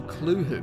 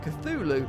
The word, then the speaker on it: Cthulhu: should be noted that Lovecraft originally intended the name to be pronounced closer to clo because it originates in an alien language that can't be properly spoken by humans however the easier form cthulu is more prevalent so that's what I'll